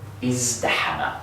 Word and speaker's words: ازدحم: fast, you'll find that the ta here winds up sounding like a dal anyway.